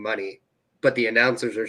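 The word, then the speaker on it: Moné: Yeah, it's Mercedes Money Mon because Yeah, it depends if you read it how it's spelled. If you read it how it's spelled, it ain't right. But Mercedes money is what she's gone for.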